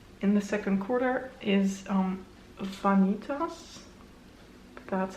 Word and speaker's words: Vanitas: The first pan that I hit in the second quarter is Vanitas.